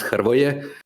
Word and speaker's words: Hrvoje: It's pronounced HRVOJE. So it's got like these three consonants in a row, which is unpronounceable if you're not Slavic, which kind of sucks.